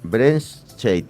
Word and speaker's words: Brenscheidt: Ella es Diana Brentscheit. Ya me corrigió ahorita cómo se debe pronunciar.